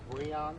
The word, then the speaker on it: Breon: Attorney's name pronounced Breon?